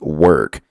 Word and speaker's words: work: Vous voyez, il y a un son E. Je dis work.